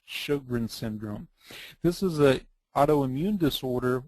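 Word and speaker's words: Sjögren's syndrome: 30 to 50% of people who have systemic lupus will have a complication called Shogrin's syndrome. It's spelled with an SJ, but we pronounce it like an SH, Shogrin syndrome.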